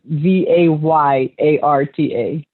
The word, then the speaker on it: Vallarta: So the L's have a Y sound. So pretend it's Vayarta.